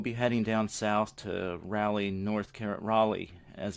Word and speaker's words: Raleigh: We'll be heading down south to Raleigh, as it's pronounced, North Carolina, and then Birmingham, Alabama, and also New Orleans.